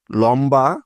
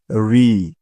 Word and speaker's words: ঋ: হলো দীর্ঘ উ অর্থাৎ লম্বা বা বড় উন্ড রস উ দীর্ঘ উ বুঝতে পেরেছ তারপরে আছে ঋ অনেকে আবার এই বর্ণটাকে বলে লি উচ্চারণটা কিন্তু সম্পূর্ণ ভুল সঠিক উচ্চারণটা হবে ঋ ঋ বয় শূন্য র